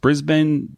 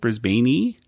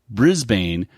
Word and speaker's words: Brisbane: guess is is just Brisbane is it just pronounced Brisbane or Brisbane I think brisban Brisbane and he was just mispronouncing it because he said put a e at the end brisban e no they just mispronounced